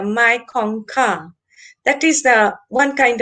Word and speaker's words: Mekong: But actually the pronunciation is the Mekongka.